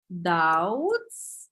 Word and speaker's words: doubts: the word to be doubts yeah B is silent to be in doubts